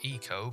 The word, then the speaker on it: ICO: damn familiar with it ico which is pronounced eco but nobody bloody calls it that is an action-adventure game